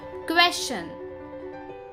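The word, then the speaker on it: question: हम में से कई लोग इसको गलत प्रोनाउंस करते हैं बट करेक्ट प्रोनाउंसिएशन है क्वेश्चन.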